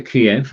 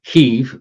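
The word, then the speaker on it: Kyiv: ukraine in kiev uh don't say kiev that's the russian pronunciation heave k-y-i-v kiev and all the staff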